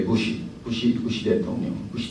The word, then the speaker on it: Bush: I was going to ask why Japanese maintain or continue to pronounce President Bush as a Bushu instead of Bushi. Bushi is much nearer to English, you see.